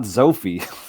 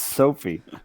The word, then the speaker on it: Sophie: Not Zophie. It's Sophie.